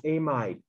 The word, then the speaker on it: amide: and here it is it is not what you learned to be an amide before so don't say it that way lithium diisopropyl amid i know we never